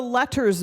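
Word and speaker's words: LETRS: This bill before you is called the Letters Bill, and that is spelled L-E-T-R-S.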